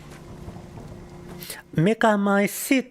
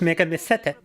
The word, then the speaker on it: Megamycete: Mega my seat, not Mega Misete.